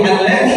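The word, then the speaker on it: الذي: Baik, alladzi di sini dia mad asli 2 harokat. Jangan dibaca lebih dari 2 harokat.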